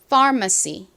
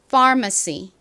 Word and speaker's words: pharmacy: 한국식으로는 파머시 이렇게 쓰지 않고 파시라고 주로 표기합니다요 발음이 좀 어려우니까요 한번 같이 연습해 볼까요 따라해 보세요 pharmacy 한 번 더 해 볼까요 pharmacy 좋습니다 요즘 길거리 간판에서 자주 보이는 단어라고 말씀드렸는데요